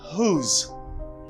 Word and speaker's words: whose: This is pronounced as whose. I mean, this is silent. You do not pronounce this letter. Ou pas prononcer lettre ça dans mot ça. W. Do not pronounce W. You have to pronounce H. You stress the H.